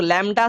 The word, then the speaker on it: lambda: Wavelength की बात करें, उसको हम लोग लैम्डा से रिप्रेजेंट करते हैं।